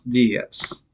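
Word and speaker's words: días: notice that does um make sure you put an accent on the i d s that's where the stress gets buenos dias all right good afternoon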